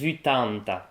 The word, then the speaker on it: ueitanta: in French, literally: four twenty) Gabrièu: No, it's "ueitanta" Elena: Oh, ok, it's easier. Elena: And, Élisa which were- Yes, sixty. Leo: Sixty, seventy... Ninety Elena: How-? Gabrièu: Exactly, "seissanta" (sixty), "ueitanta" (eighty), "nonanta" (eighty)...